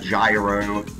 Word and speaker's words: gyro: It's kind of like a gyro. It's hero. It's pronounced hero.